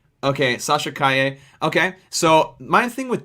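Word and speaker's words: Calle: The L okay, is silent. Okay, Sasha Kaye.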